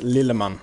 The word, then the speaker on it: Lilleman: Okay, so my name is pronounced Lilleman in Swedish. That's how I pronounce it.